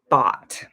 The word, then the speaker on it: bought: the time when i bought them in the past i bought these pins from amazon so it's confusing because of the way that it's spelled but we say bot okay let's look for